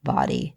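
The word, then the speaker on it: bawdy: out I listen to body storytelling podcast you know body it's spelled b a w d y like you know like naughty body it's run by Dixie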